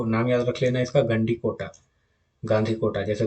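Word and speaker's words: Gandikota: ठीक है, इसको नाम याद रख लेना इसका, गंडी कोटा, गांधी कोटा जैसे भी याद कर सकते हो।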